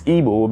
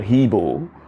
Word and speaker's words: Igbo: Originally it's Igbo, but the white people, when they arrived the shores of West Africa, where the Biafran land lies, they called the Igbo people. They couldn't pronounce it. They called Hebo. They called Heebo, then Igbo. It's metamorphosized to Igbo, Eboe.